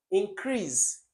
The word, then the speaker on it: increase: So increase has the stress on crease, the second syllable, because it's an action word.